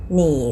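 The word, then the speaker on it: 你: แรก เลย นะ คะ หนี่ หมาย ถึง คุณ ค่ะ เป็น เสียง เนอ อี นี่ นี่ หนี นี่ เสียง ที่ 3 แบบ นี้ นะ คะ ไอ ออก เสียง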